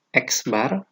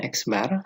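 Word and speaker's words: x̄: adalah mint ini lambangnya eksbar jadi x tanggal garis di atas ini dibacanya eksbar sama dengan jumlah datum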